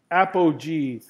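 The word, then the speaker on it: apogee: apog G at this level and let me spell that word for you a p o GE e e Appo G the furthest point from Earth Appo meaning Greek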